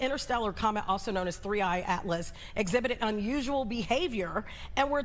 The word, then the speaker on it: 3I/ATLAS: But let's talk about the new things with 3I Atlas. That's the correct way to pronounce it, correct?